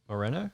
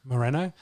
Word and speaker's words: Moreno: is it more mono i got that right moreno moreno uh so brandon moreno who fought on the